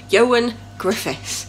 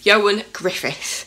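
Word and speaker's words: Ioan Gruffudd: Yoan Griffith, because it's not spelled as it sounds, but I'm practicing saying his name. Yoan Griffith, but it's spelt Grufford, but is Welsh.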